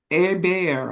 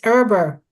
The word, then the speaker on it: Eber: And Bear. I'm sorry. It's Eber. No, Eber. That's how we pronounce it.